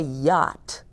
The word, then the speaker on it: yacht: just decided or what's a yacht rhymes with pot what in the world